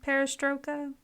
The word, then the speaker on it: Perestroika: Part 2, I think it's pronounced Perestroika.